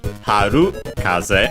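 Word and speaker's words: 春風: for now and so the compound which becomes uh accented on the ru haru kaz and we can see here uh one of the cases I mentioned with the accent on the uh at the end of the first part of the compound.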